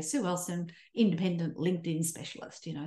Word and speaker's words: Ellson: They put an I in there, which is very irritating.